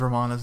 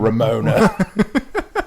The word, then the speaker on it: Romana: and the fact that he constantly mispronounces romana's name Ramona and she calls him out on it every single time and then he does it once he gets it he gets it right once Romana and then he goes